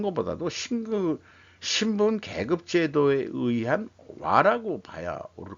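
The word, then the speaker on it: 和: 일본의 상징은 화입니다. 와라고 발음하죠. 와.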